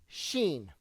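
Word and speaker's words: סין: tell you why because this word sin in Hebrew is actually seen that's how it's pronounced Sheen or seen and it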